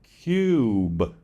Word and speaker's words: cube: Put an E on the end of cub, and you get cube.